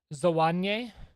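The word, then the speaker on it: Zwane: You pronounce the E at the end like you were pronouncing Sitole. So it would be Zawanye.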